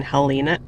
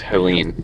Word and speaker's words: Helene: Yesterday after work, we had like that tornado watch warning of Hurricane Helena. Helena? It's Helena, right? It's pronounced Helene. Helena. Helene. Okay.